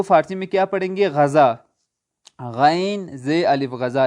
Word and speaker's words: غذا: میں کیا پڑھیں گے، غذا، غین زے الف غذا، لیکن فارسی تلفظ کے ساتھ پڑھیں گے غین کو قاف کر کے، قضا، کیا پڑھیں گے، قضا۔